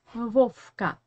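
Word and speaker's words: Вовка: him wolfka wolfka and here you need to pay a gain attention to the second in the russian name wolfka the first verb we pronounce like the second verb we pronounce like f why because it is standing in front of k in this position we pronounce as f and we have another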